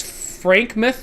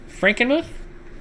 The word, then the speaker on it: Frankenmuth: That's pronounced house. And that's Frankmouth, Michigan? Frankenmuth, Michigan.